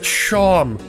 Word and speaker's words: Seam: Name's Seam. Pronounced Shom.